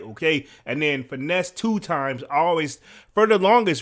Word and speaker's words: Finesse2Tymes: times man I mean finesse two times is the exact way to say his name right okay I don't want to butcher his name because to be honest I'm Gonna Keep It 100.